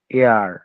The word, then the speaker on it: heir: যখন উচ্চারণ করছি HEIR, এয়ার অর্থ উত্তরাধিকারী, HONOR, অনার, HOUR, আওয়ার, এখানে কিন্তু হাওয়ার বলছি না, হেয়ার বলছি না, হনার বলতেছি না, আমরা কিন্তু বলতেছি অনার।